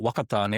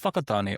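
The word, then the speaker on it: Whakatāne: So like wat like some people would call it wakatan and other called it fakatan or fun or wangare are both acceptable depending on the tribe you're from.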